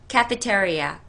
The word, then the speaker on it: cafeteria: 발음을 정확하게 하셔야 돼요. 카페테리아 아니라 cafeteria. 테리아.